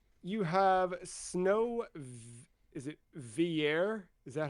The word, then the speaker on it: Villiers: You have Snow, is it Villiers? Is that how I'm meant to pronounce it? Yeah, I would say that. Villers.